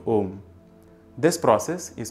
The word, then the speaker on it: Om: When it mixes with U, it becomes O. You can try these out for yourself as a fun exercise. So yes, it is pronounced Om when you are using praNava as a word.